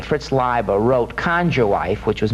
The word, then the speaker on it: Leiber: Fritz Leiber, as I pronounce, you can pronounce it Lieber either way. Fritz Leiber wrote Conjure Wife, which was made into a movie called Burn Witch Burn.